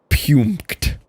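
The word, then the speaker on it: Puempked: He repeated over and over punked.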